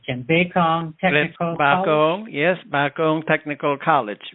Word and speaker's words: Bakong: the F founder of the how do you pronounce it Tim bong technical colong yes bakong technical college right which you are closely associated